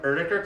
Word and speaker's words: Oetiker: In America, we call them Oetiker clamps. And if you are German, you pronounce them Oetiker clamps.